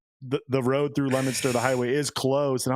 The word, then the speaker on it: Leominster: It's said Leominster. It's spelled funky because it's New England.